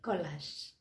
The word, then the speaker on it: collage: do you mean by collage what's the spelling of collage c o double l a g e collage now what is the how do you pronounce c-o-l-l-e-g-e c-o-l-l-e-g-e is it collage no